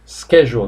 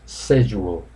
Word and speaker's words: schedule: Schedule, schedule. British pronounce schedule. Americans pronounce schedule, schedule.